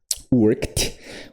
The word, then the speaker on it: worked: Worked. Worked. Então pode ter som de t, só que nunca pronuncia o o e.